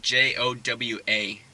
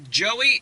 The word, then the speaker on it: Joa: So yeah, it's pronounced like Jowa. Just sound it out. Jowa. And so they'll ask, what's your name for this order? I was like, Joa. Oh, Joey? No, it's Joa. Joel?